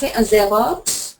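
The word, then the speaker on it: zéro: z z zero zero in French it's going to be Zer zero zero you're saying Z don't say z z zero zero correct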